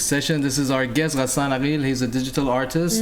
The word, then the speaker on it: Gassan: Can you just say Gassan Aqel so people can know how to pronounce it? It's not everybody speaks Gassan Arabic.